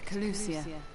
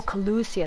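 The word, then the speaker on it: Kholusia: of the warden's demise back to collusion the last refuge of light oh collucia that's how you say it okay heavenly host there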